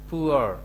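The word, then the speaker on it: poor: The farmer is পুয়ার, এটা অনেকে পুর বলে, আসলে পুর উচ্চারণ হচ্ছে পুয়ার।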